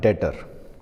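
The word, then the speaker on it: debtor: अब इसी तरह इन्हीं का एक टर्म होता है डेटर। अब डेटर क्या होता है? इसमें लिखते समय हम लिखते हैं डेबिटर लेकिन बी साइलेंट होता है बोलने के टाइम पर। ये बात यहां पर हमने लिखी थी।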